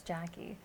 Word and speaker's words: Jaci: all the time people that I've known for years will call me J C and then it's like well it's Jackie so I put a